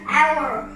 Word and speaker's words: hour: âm đầu tiên là o, cho nên mình đọc là an hour.